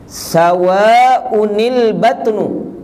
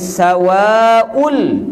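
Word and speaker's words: سَوَاءٌ الْبَطْنُ: Sawa'unil batnu, baca gitu. Dapat? Kita tak baca sawaul. Tak, mana boleh bacanya itu sebab hamzah tu tanwin.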